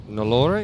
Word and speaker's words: Nalore: Yeah, Tiki Iqbal captain, Azaz Khan, Dan Pascoe, Dash Vora, Hasnan Kiani, Hassan Khan, Ruthvik Nalore. Did I pronounce that correctly? Nalore, but close. Nalore.